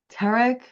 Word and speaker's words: Tarik: And then you even think about a guy like Tarik Skubal. How about that? Take that. How's that pronunciation? You Nailed take it. Nailed it. I saw something today that said it's like Derek with a T.